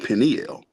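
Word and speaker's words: Peniel: pronounce it differently um I I've always read it p p n u e l Pinel right but some people will call it pineal right or pineal some people pronounce it that way um but I think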